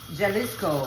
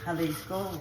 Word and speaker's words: Jalisco: So we don't say jikama. We don't say jalisco, we say halisco and we say hikama.